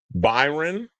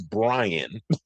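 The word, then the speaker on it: Bryon: I called him Byron which I just did. His name is Brian. B R Y O N. So, I've been calling him I've been saying his name wrong all the time.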